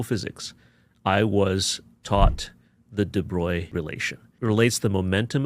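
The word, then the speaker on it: de Broglie: I was taught the deoy relation. It relates the momentum of a particle to its wavelength and the relationship is mediated, shall we say, by plants constant. Wait a minute. I pronounced it droy.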